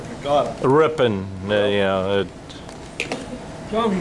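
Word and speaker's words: Kaukauna: Cockanaw. Instead of Kakana.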